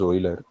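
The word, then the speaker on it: Euler: It is pronounced as Oiler.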